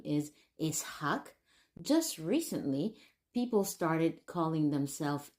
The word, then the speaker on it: Isak: popular but did you know that the original pronunciation in of this name is isak just recently people started callings isak for probably